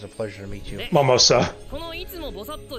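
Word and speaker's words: Mimosa: Momosa. Like the drink.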